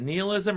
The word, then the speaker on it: nihilism: going to pronounce this is it nihilism or nihilism because it shows up both ways we're going to use nihilism the thing is these girls what what did Jim say I couldn't hear the gym take it I defer it a gym it could be pronounced both ways but I prefer nihilism okay well we'll say nihilism